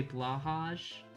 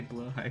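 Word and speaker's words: Blåhaj: pronounce what blo high you say blahaj Bligh is the correct pronunciation say blow High cuz you're a real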